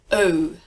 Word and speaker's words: eau: let's have a look French term first word e a u EA u that is a vowel cluster three letters one sound that sound is oh and your references oh the exclamation in English